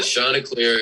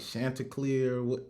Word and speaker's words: Chanticleer: you about your school this is how you pronounce it so the shauna clear it's a fighting chicken